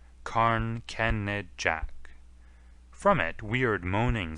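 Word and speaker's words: Carn Kenidjack: Carn Kenajek is its real name, but they are taking now to spelling it as it is pronounced, Carn Kenejak.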